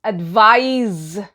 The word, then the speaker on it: advise: than you next is advise and it rhymes with i said the eyes as in vitalize and it is a